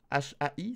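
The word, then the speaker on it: はい: Oui, il faut prononcer le H.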